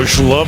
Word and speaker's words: schlub: You're no schlub, are you? How do you spell schlub? Well, it's spelled with an S on the card, but I pronounce it like ZH.